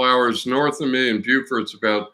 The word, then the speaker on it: Beaufort: I'm probably saying it wrong. Representing here, North Carolina. Okay, we said it right, because it's Beaufort, South Carolina, and Beaufort, North Carolina. You lucked into it, though. Most people don't know that.